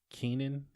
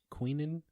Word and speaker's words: Quinnen: Is it Keenan Williams? Quinnen, I think.